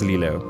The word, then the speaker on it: Lilo: It's my/our, but my pet, so I decide on the pronunciation. It's Lilo.